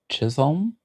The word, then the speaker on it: Chisholm: Chisholm.